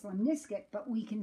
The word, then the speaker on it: lemniscate: figure eight is that if I pronounce this wrong, lemniscate figure eight, it can help me remember the shape of a lemniscate. This is actually pronounced lemniscate, but we can say lemniscate figure 8.